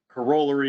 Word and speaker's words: corollary: of the king's english so um corollary is the right pronunciation we went off on